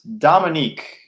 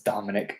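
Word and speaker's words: Dominik: for behind all this Dominique you know is Raymond Dominique know like what it's Dominic this is Dominic Dominic Dominic wait until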